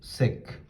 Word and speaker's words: sec: Secant, you say sec.